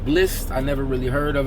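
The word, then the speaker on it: Blxst: That's featuring Wale, and I guess his name is pronounced Bliss.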